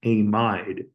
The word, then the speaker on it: amide: I just want to make sure I'm pronouncing it amide to emphasize that IDE meaning has a negative charge.